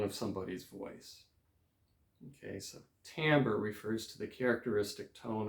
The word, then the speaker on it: timbre: layer texture timbre okay this is a word that looks like timbre t-i-m-b-r-e timbre is how it's pronounced and it just means